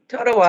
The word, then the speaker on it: Totowa: Totowa.